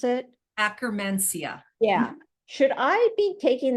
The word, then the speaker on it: Akkermansia: Is that how you pronounce it? Akkermansia.